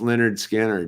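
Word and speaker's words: Lynyrd Skynyrd: Pronounced Leonard Skinner, dude.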